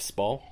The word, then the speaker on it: Spall: It's Spall, isn't it? Like Timothy Spall.